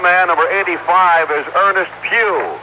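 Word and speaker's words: Pough: And the other man number 85 is Ernest Pew. It's PO U GH but pronounced as Pew in church this being Sunday.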